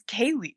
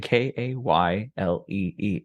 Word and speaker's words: Kaylee: It's just like Kylie. It's Kaylee, Kaylee.